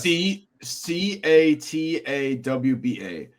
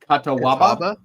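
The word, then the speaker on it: Catawba: Yeah, it's I don't even know how to pronounce it. Do you give us your best guess? C C A T A WBA. Katawa Kataba.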